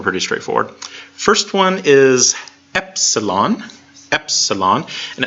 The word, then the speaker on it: epsilon: straightforward first one is epsilon Epsilon and it sounds like the e and MIT so it's basically just a normal lowercase e sound yep yep Absalon epsilon capital epsilon is a